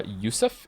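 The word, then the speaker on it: Yosef: Joseph is pronounced uh yusf in the orig in its original Hebrew form therefore I will call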